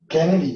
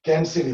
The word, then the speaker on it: Canidae: ये क्या है तो सुनो, कैनिडी या कैंसिडी बोलो। आगे यहाँ पे डॉग है, डॉग की फैमिली को क्या बोलते हैं? कैंसिडी, कैंसिडी, राइट? तो यहाँ पे कैनेडी भी बोलते हैं ये वर्ड को, और स्पेलिंग के हिसाब से कैंसिडी भी बोल सकते हैं।